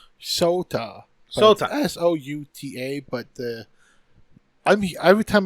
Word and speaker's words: Sota: Shota. Wait, it's Shota? Okay, fine. So, well, it's Sota.